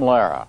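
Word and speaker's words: Lehrer: that uh that pronunciation it's the way he pronounces his own last name good evening I'm Jim Lara yeah it's great Jim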